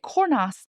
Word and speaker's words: Cornas: the northern rone with cornas. Now I pronounced the s. I did it. Is it okay to pronounce the s? Because in a lot of French words we don't.